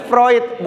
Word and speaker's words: Freud: kenal nih siapa Freud kan bacanya Freud bukan FR menurut Sigmund kan enggak tapi Sigmund Freud ada